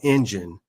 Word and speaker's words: NGEN: I'm the president and CEO of a company called Engine. NGEN is the spelling of our company. It's pronounced like the engine in your car.